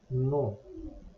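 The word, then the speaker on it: non: is simply to say no the final n is not pronounced and o n has a nasal S no to make a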